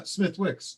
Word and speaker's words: Smithwick's: So I guess the last one is what popular light beer is pronounced without the W? Somebody answered it. Oh, they did? Oh yeah, Smithwick's.